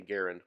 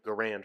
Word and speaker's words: Garand: contention if we don't the appropriate pronunciation due to all my research is actually garand but it's been garand for me for so long that it's gonna remain so so it was the